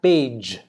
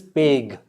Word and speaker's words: page: Then we have page. This is also J pronunciation. Just because it is G does not mean it is peg. Page.